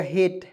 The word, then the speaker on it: hate: यहाँ आप देखेंगे HATE, तो इसका उच्चारण हो जाएगा हेट, HAT। देखिए एच से ह लिखेंगे, टी से ट लिखेंगे, और देखिए अंतिम में ई आया, उसको उच्चारण एक ही रूप में करेंगे, हेट मिस होता है